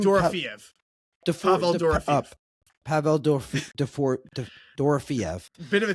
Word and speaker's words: Pavel Dorofeyev: We started talking about how do you pronounce his name? Dorofeyev. Pavel Dorofeyev.